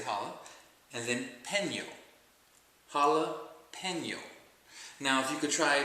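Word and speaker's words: jalapeño: Jalapeno. And just pronounce it all together as one word. Jalapeno. Jala, pen is in you write with, and yo. Jalapeno.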